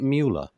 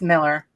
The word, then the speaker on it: Mueller: Is it Mueller? It's Miller. Oh, for goodness sake. I do apologise. Miller, that's interesting because it's got that sort of Germanic look to it.